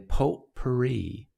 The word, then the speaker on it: potpourri: The T is silent in potpourri. Potpourri. Because it's French, right?